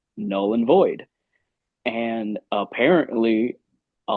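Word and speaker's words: Knull: Um, so our track Null and Void is spelled K N U L L like Null, the god of the symbiot.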